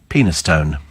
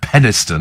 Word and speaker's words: Penistone: silly name that's garyan penistone pronounced peniston is it about oh right okay it's pronounced peniston sounds the same kind